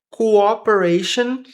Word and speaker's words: cooperation: Cooperation and possibly identity. cooperação e possivelmente identidade quo como se fosse um u aqui. Cu operation som de X aqui. Cooperation.